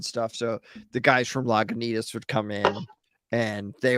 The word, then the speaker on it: Lagunitas: not lagging as well or laguna toss if that's how it's actually pronounced i don't know well no it's actually lagunitas okay okay so i